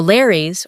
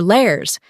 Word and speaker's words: Lares: The Lares, or Lares, were also household gods, but differed from the Penates in being regarded as the deified spirits of mortals.